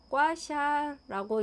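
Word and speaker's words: 刮痧: 중국어 발음으로는 과 정도 될 수 있어요. 그 다음에 사라는 것은 긁는 다음에 나타나는 증상이 있죠. 멍같이 빨갛게 올라오는 증상 말이에요. 멍을 이야기하여 괄사, 한자로는 괄사라고 말을 하고 중국어로는 꽈샤라고 읽을 수 있어요.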